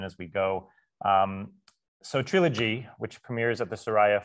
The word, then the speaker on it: Treelogy: going to talk about Trilogy today that's three syllables Trilogy it's just like the word trilogy but with tree at the beginning of it uh people ask so